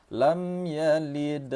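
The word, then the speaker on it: لم يلد: Pertama, jangan ditahan mim ini. Mim mati temu dengan ya, nama hukum tajwidnya izhar syafawi. Cara membacanya lam ya, lam ya. Jangan ditahan lam ya, jangan gitu. Tapi langsung saja.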